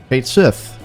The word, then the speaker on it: Cait Sith: Twitter Warriors out there that's how it's said in the game so that's also how I will pronounce it Fortune extraordinaire anyway K Sith is interesting it's a